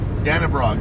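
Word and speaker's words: Dannebrog: Danabrog.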